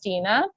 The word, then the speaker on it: Stine: which is confusing right so it's pronounced Tina and so a sama